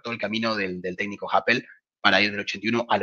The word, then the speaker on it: Happel: ir en alemán, pero es bastante fácil, es Happel, no es muy Happel, difícil, simple, cortito y al pie. claro. Es casi como la aplicación de cita Happen, pero este es Happel. Exactamente, es como la explicación de Cita Happen, pero en vez de la L, Perfecto, de la N, la L.